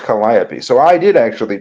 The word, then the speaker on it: Calliope: It's not Calliope. It's supposed to be pronounced Calliope.